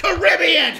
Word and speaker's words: Caribbean: It's pronounced Caribbean!